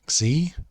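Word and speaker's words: ξῖ: Then we have Xi, which is either an X or a KS sort of sound. X. So Xi.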